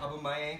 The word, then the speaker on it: Aubameyang: Aubameyang, how do you pronounce that? Aubameyang.